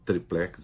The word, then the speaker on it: triplex: o apartamento tal do tríplex do Guarujá, eu prefiro triplex, as duas pronúncias são aceitas, ele não via ligação entre o triplex e os contratos da OAS com a Petrobras.